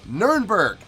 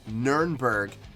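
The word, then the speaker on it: Nürnberg: the year 2000 now nurnberg not to be considered not not to be confused with norenberg okay actually they are the same thing but german pronunciation the german actual pronunciation is nurnberg english conventional is nuremberg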